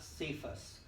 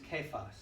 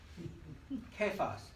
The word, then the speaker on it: Cephas: It's not Cephas, it's Cephas. And they really should spell it with a K properly.